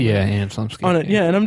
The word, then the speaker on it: Anna Chlumsky: the Loop, The Thick of It, and Veep, Anna Chlumsky popped up. I think I'm pronouncing her name. Yeah, Anna Chlumsky.